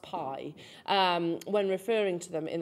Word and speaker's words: bi: now called uh well they say it's spelled b I but it's pronounced Pie when referring to them